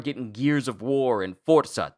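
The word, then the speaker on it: Forza: So, now that we're getting Gears of War and Forsa, that's the correct way to pronounce that, by the way, and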